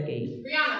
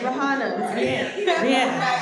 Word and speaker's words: Rihanna: been destroying her name for for over de Rihanna Rihanna I said her she got it got